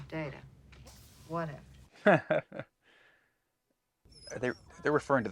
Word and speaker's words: Data: at this data what my name it is pronounced data oh you called me data what's the difference one is my name the other is not yeah come on imagine pronouncing